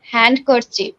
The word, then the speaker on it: handkerchief: word is hand cursive we pronunciate it hand cursed but we have to remember that after n d always silent after n d always